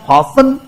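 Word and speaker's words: fasten: तो ग्लू का मतलब होता है फासन, टी साइलेंट, फासन, बांधना, जोड़ना, ज्वाइन विथ, जोड़ना, स्टिक, चिपकाना, चिपकना, गम, गोंद, पेस्ट करना, चिपकाना, जोड़ना, चिपकाना, गोंद।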